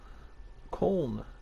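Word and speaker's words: Köln: europa cup they beat corn or cologne as we would pronounce it here in the u.s 2-1 so two new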